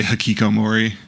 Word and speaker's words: Hikikomori: I also go by Hikikomori. And that's how you pronounce the name, by the way.